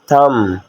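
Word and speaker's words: thumb: finger कहा जाता है अंगूठा टी एच यू एम बी थम थम अंगूठे को इंग्लिश में तम कहा जाता है यहां पर बी साइलेंट है एरी एच डबल ई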